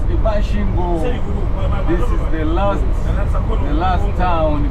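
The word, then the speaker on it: Masvingo: Mashvingo. It's pronounced Mashingo.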